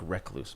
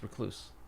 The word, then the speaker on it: recluse: A lot of people think recluse, but it's recluse.